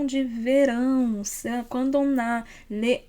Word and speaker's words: verão: C'est un son nasalé, mais qu'à la fin, on ferme la bouche.